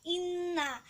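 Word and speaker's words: إنّا: Di ayat yang ketiga ada kalimat inna. Cara membacanya nun tasydid harus ditekan dan didengungkan.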